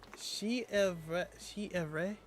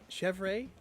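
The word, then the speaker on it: Chèvre: Chef Ray. Chev Ray first like Chevy, but Ray is at the end.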